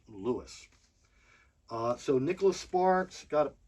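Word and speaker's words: Lewes: pronounced that way in that town it is pronounced Louis so Nicholas Sparks got a pile here somewhere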